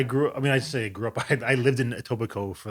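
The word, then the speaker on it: Etobicoke: up I lived in tobico for like oh you don't pronounce the Kay on that so you know you're from there oh a TOA Coke is that how people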